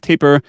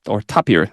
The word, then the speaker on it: Tapir: in the form of Taper or Tapir, the way that I think this is correct pronunciation, Smithy 4S, and then